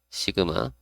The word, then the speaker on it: sigma: 읽을 때는 시그마라고 읽으면 돼요. 시그마. 영어로 이렇게 SIGMA 이렇게 시그마 이렇게 읽으시면 되고요.